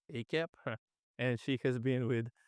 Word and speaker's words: AACAP: Adolescent Psychiatry, or AACAP, or as I learned, often pronounced as ACAP.